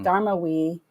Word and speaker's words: Darmawi: So, but my dad, as a form of resistance, kept the phonetic pronunciation of our last name, and put it on the back of our name, Dharma. So it became Hmm. Darmawi.